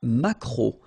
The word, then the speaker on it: maquereau: T, la truite, le maquereau, so technically this K, just pronounce it K, mac, maquereau, maquereau, alright, and then E, A, U, remember when you combine these three vowels, you get the sound O, maquereau, okay, and then